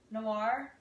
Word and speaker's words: noir: and i'm probably going to say it wrong noir that's exactly right all right you get lots